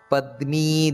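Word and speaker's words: ಪದ್ಮೀ: ಶೌರಿರ್ಜನೇಶ್ವರ ನೆನಪಿಟ್ಟುಕೊಳ್ಳಬೇಕಾದದ್ದು ಹಾಗೆ ಅನುಕೂಲತಾವರ್ತ ಪದ್ಮಿ ದೀರ್ಘ ಇದೆ ಪದ್ಮಿ ಪದ್ಮನಿಭೇಕ್ಷಣಹ ಅಂತ ಆ ರೀತಿ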